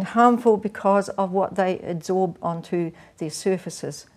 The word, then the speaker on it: adsorb: because of what they adsorb onto their surfaces. Now, I didn't mispronounce absorb then. The word is adsorb when it's on the surface.